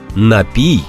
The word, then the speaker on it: напій: напій пісне перший алконапій тут просто потрібно запам'ятати напій завжди напій а от завжди може